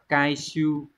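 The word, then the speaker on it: 回収: Số 3 Hán tự là chữ hồi và chữ thu, cái này đọc là kai siêu chứ không phải là siêu siêu này.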